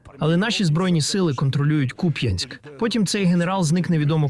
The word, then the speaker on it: Куп'янськ: Куп'янськ, куди нещодавно приїжджав Володимир Зеленський. Путін твердить, Куп'янськ теж начебто контролюють росіяни, але навіть наголос невірно ставить. Под наш контроль уже несколько недель назад перешёл в город Купянск.